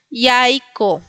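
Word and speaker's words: jajko: el huevo, que es yaiko. Ahí tenemos las dos formas de pronunciar que es como y porque está funcionando como consonante y como vocal en la segunda.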